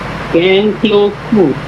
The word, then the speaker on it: Gangloku: My name is Gangloku. I'm calling from Stephen Tower Estate. Okay, what's your last name again? Gangloku.